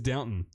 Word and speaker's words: Downton: It's not with downtown. Abby. It's Downton. It's downtown with Abby. Do you see a W?